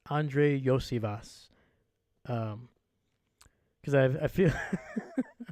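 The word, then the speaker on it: Andrei Iosivas: finally had to look up how do you pronounce it so Andre Yash so that's how you pronounce it y Vash also badass name Andre Yash here we go had to put some respect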